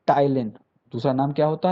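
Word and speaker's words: ptyalin: है वह होता है टाइलिन दूसरा नाम क्या होता है टाइलिन होता है पी साइलेंट है पी क्या है साइलेंट है तो टाइलिन पी टी वाई ए एल आई एन तो टाइलिन या सेलावी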